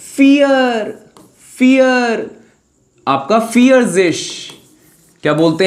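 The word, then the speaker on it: vierzig: fear fear आपका फियर्जेश क्या बोलते हैं फियरिश तो 41 को क्या बोलेंगे 40 + 1 यानी आइन पहले बाद वाला बोलते हैं आइन उन फियर्जेश आइनउंद फियर्जेश 42 को क्या बोलेंगे जय उनफियश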